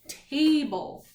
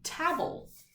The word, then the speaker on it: table: but we now know if we hear that vowels saying it's named a bowl what do we need to add to the end of this word that's silent e you got it tables because we didn't it would be tabbles table a table table